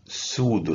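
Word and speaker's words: pseudo: هتول بسودو والى اخره هذه البي سايلنت مصطلحات الطبيه فتلفظ سودو استر استر استر ايش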